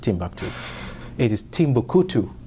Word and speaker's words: Timbuktu: know people say to I've heard them say Timbuktu by the way it's not pronounced it's not pronounced Timbuktu it is Timbuku right it's different Timbuktu and Timbuku are two